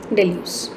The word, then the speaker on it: Deleuze: इनका जो main focus था Deleuze का, that's how it's spelled. Deleuze. Deleuze.